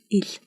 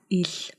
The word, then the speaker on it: Л: Today we are going to learn how to pronounce the most difficult consonant in Mongolian, which is il.